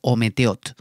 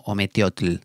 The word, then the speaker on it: ometéotl: que al quad o ometéotl no cometió tel aunque se escribe con la l final es ometéotl quetzal quad y en este